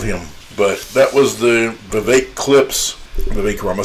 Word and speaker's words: Vivek: be too bad but Vivek rhymes with cake ramaswamy does not speak the truth I would almost honestly say it's very difficult to get the truth out of him but that was the Vivek Clips the baker I'm